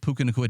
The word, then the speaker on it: Puka Nacua: Jordan Whittington, rostered in 0.2% of leagues, unfortunately, with Puka Nacua.